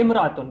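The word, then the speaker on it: امرأة: So but the alif is only pronounced when it comes first at the starting.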